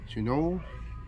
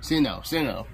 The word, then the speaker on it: Sinnoh: Shinoe? That's how you say it? Sinnoh.